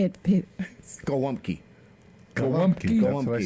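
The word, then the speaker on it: gołąbki: Golumpki. Golumpki. That's what I said. Golumpki. Golumpki. Golumpki. Golumpki. Gumpki. Yeah, because the L has a slash through it, which is a w sound in the Polish language.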